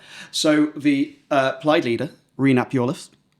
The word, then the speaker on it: Iorwerth: So the Plaid leader, Rhys Iorwerth, saying it right?